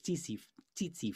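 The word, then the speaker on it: tsetse: when they're bitten by the see titsy fly i believe is how it's pronounced over in africa um and this african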